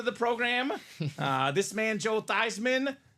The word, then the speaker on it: Theismann: So for the people that are new to the program, this man, Joe Theismann, the rest of his family is the Thiesman family. Amen. They changed the name to his pronunciation.